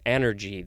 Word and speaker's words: anergy: It's similar to the word energy, but it starts with an A, so it's anergy.